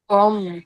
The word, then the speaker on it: ओम: ले जाए मास्टर और यहां पे ए यू एम ओम का ओ ओ को तीन लैंग्वेज उसमें करना है ए यू एम करके आपको ओम का उच्चारण करना है।